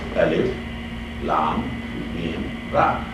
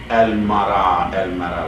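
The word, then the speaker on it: الٓمٓر: Alphabetical letters, individual letters, broken letters, Alif, Lam, Mim, Ra. We don't read Al-Mara like a verb. We don't read, we break, we pronounce each letter differently. Alif, Lam, Mim, Ra, because this is not a kalima, this is not a verb.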